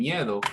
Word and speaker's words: miedo: learn if i'm teaching miedo is this first how meow is pronounced correctly miedo all the different variation